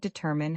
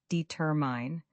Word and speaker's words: determine: The word determine has the stress on the second syllable. Determine. Many learners put it on the first or last syllable, but it's determine.